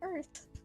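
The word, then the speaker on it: Oerth: It's Earth. It is pronounced Earth, isn't it, Ronnie?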